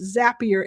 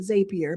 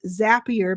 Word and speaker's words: Zapier: So Zapier, by the way, it's pronounced Zapier, everybody. People call it Zapier, but it's Zapier because it's zapping.